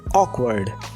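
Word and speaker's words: awkward: यहाँ W silent रहेगा, आप बोलेंगे ऑकवर्ड, जिसका मतलब होता है असहज या अजीब।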